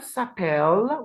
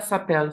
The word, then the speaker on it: s'appelle: And here, the last one here is elle s'appelle with a silent ENT that we do not pronounce. Elle s'appelle Sophie et Emma.